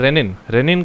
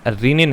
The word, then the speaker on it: renin: देगा और वो सेल रेनिन रिलीज कर देंगे। ये रेनिन जो है ना, रीनिन है, RENIN, नॉट रेनिन।